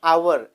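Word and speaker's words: hour: और इसी तरह से आवर स्टार्ट तो एच से होता है, एच ओ यू आर, लेकिन प्रोनाउंसिएट करते हैं आवर, तो इसलिए हम उसके आगे क्या लगाते हैं, एन लगाते हैं।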